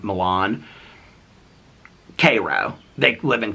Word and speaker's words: Milan: And they call it Milan, but it looks just like Milan.